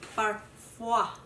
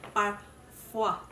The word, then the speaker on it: Parfois: Sabi ni Google, tinanong ko si Google kung paano siya babasahin. Sabi niya, it's Parfois. I don't know if correct ba yun. Basta sabi niya, Parfois.